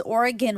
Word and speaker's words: Oregon: that's weird yeah yeah it wasn't until my family moved to Oregon that I was forced to learn to say it correctly so is Oregon right yeah cuz that's how oregonians say it oh right yeah yeah